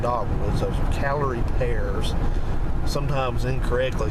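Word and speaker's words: Callery: in the south and they are called calorie it's spelled c-a-l-l-e-r-y pears those are not dogwoods those are calorie pears sometimes incorrectly called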